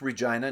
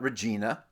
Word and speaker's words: Regina: We're going to start off with a local group, because Regina is known as the Queen City. Yes, it's pronounced Regina, not Regina.